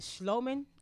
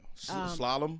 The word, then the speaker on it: slalom: Was it Schloman? I believe that's how you pronounce it. Right. Slalom. Slalom. Yeah. Slalom.